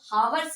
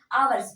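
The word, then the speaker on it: hours: तो ऐसे समझ लीजिए की जब वॉवेल के पहले यक्ष आता है तो यक्ष वहां पर साइलेंट होता है तो इसको हवर्स नहीं पढ़ेंगे अवर्स पढ़ेंगे ठीक तो आपको फिर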